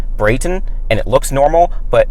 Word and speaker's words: Brayton: No! It's Brayton.